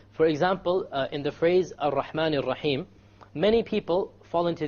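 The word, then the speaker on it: الرحمن: And they'll say, Ar-Rahman Ar-Rahim. I'm exaggerating so you understand what the mistake is. Okay? This is a mistake. You cannot allow the tongue to roll. Ar-Rahman is a mistake. Ar-Rahman Ar-Rahim.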